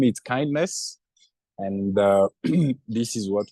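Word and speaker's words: KINDNS: so um it is it is pronounced kindness because sometime we hear people asking what is the right way to pronounce this it is just kindness and it tend to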